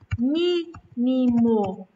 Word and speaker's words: mínimo: Mínimo. Mi, a gente fala com mais força.